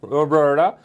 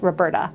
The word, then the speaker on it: Roberta: so, Roberta.